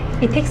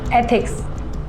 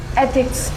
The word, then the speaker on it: एथिक्स: इथिक्स नहीं, एथिक्स ऐसे pronounce करो। एक बार बोल के बताओ। एथिक्स।